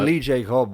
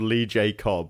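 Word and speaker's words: Lee J. Cobb: cuz I told job I told you this guy's called Lee J cob when we did The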